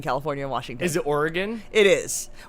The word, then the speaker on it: Oregon: We say Oregon. Oregon. Oragan. Oregon. It's O-R-E. Oregon, but Yes. Oregon. But some people pronounce it Oregon. Like people who don't live near it. Most people on this coast say Oregon or Oregon. Like as a 2-syllable or 3-syllable, but not Oregon.